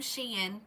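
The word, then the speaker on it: Shein: It's from Sheen. And I'm going to say it that way because someone researched it and said that that is the correct way to say it.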